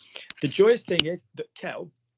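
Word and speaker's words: quel: joyous thing is that Kell um is always the same spelling is always the same pronunciation k k Kell k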